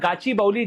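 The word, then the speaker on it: Gachibowli: तो India's first animal stem cell bio bank opens इन गाउची बाउली। तो गाची गाउची बौली या गाची बौली जैसे भी आप इसको प्रोनाउंस कर सकते हैं।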